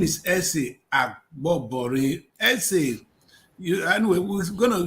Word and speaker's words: Agbobore: Akpobore. We know Akpobore. This is Agbobore. So I will not be going to Akpobore. It's Agbobore.